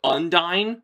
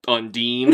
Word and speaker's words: Undine: So I said undyine for years. So uh I just want everybody to know I spelled it out phonetically in my script so I didn't mess up. Undine.